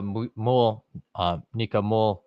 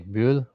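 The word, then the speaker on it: Mühl: What has the U umlaut? I always say Müll, but that's the German speaking in me. So I struggle to say words that in my head should be pronounced a certain way.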